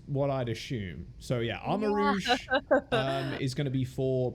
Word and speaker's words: Armarouge: Armor Rogue? Wait, no. No, that's Rouge. Rogue is Rogue. Armor Rouge. It has to be Rouge. Armor Rouge because like it's Yes.